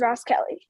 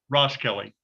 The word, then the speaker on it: Roskelly: Is it pronounced Roskelly? Yes, it is Ross Kelly. Roskelly.